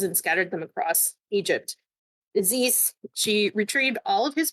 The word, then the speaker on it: Isis: Isis is how we pronounce it in Arabic, but other people pronounce it Isis. Her Egyptian name is Aset.